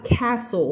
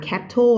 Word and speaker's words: castle: ค ำ นี้ อ อ ก เ สี ย ง ว่ า castle ตั ว t ไ ม่ อ อ ก เ สี ย ง น ะ ค ะ ไ ม่ อ่ า น cattle น ะ castle whole ทั้ ง